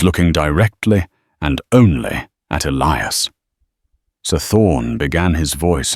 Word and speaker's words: Elias: Elias Carter Thorne said mispronouncing the first name deliberately as Eli us. It's Elias.